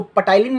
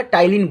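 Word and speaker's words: ptyalin: अब इसको पटाइलिन मत बोलिएगा, टाइलिन बोलिएगा, ठीक है। पी साइलेंट होता है यहाँ पे, तो टाइलिन इसको हम लोग टाइलिन बोलेंगे, ठीक है।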